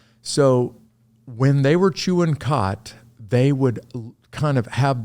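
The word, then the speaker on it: khat: much like cocaine and the drug is called cot spelled with a k k h a t they would chew the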